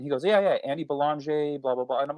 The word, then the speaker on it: Belanger: How do you say your last name?" And he goes, "Belanger." And I was like, "Dude, I'm sorry, I've been butchering your last name this whole episode." He goes, "You're American. It's okay." He's Canadian. So he's like, "That's how Americans say it. It's not a big deal to me."